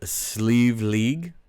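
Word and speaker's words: Sliabh Liag: without looking it up it is sleeve league but it is spelled welcome to Kentucky s-l-i-a-b-h-l-i-a-g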